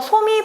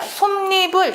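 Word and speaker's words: 솜이불: 발음을 아는게 더 중요해요 이거 소미 이렇게 발음하지 이렇게 발음하지 않습니다 솜니불 이렇게 발음하고 이렇게 발음이 일어나는 이유는요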